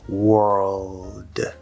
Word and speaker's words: world: It's spelled with an o, but it is not an o sound. It's just a regular er vowel. This is one of the exception words where you have o r in a stressed syllable and it's actually er instead of or.